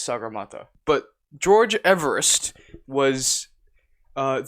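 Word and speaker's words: Sagarmatha: weren't bothered to pronounce sakamata i wish i was joking so the local the local nepali name for mount everest is sagar mata but george everest was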